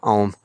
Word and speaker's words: Ogham: a letter in Irish, it silences the previous letter, or it softens it almost to a silence. So that's why I'm saying Ogham.